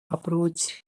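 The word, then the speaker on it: approach: अप्रोच A double P आर ओ ए सी एच अप्रोच में ए के बाद double P आया है। इसीलिए इसमें ए का उच्चारण शुरुआत में छोटा आ होगा।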